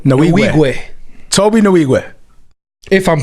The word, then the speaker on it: Nwigwe: How you pronounce his last name, Gil? Nwigwe. Nwigwe.